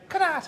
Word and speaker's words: Connacht: Connacht.